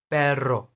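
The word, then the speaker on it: perro: पैरो, पैरो, र, र, र sound, okay.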